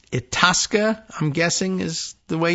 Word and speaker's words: Itasca: Itasca, they might say Itasca County. I suppose that's maybe the local accent thing. I don't know. Or they might say Itasca, like Italian.